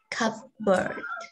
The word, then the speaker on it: cupboard: So we have the P sound, cupboard, cupboard. Cup. Which is the P per sound is silent.